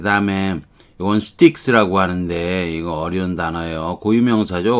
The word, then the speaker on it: Styx: 자, 그 다음에 이건 스틱스라고 하는데 이거 어려운 단어예요.